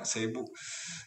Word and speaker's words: Cebu: Tulisannya Cebu, bacanya Cebu.